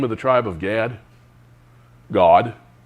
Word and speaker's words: Gad: God. It's pronounced with like G-A-W-G, God.